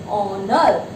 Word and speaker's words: honor: Okay, now see, before a word beginning with silent H, we all know the pronunciation of these words, it's not honor.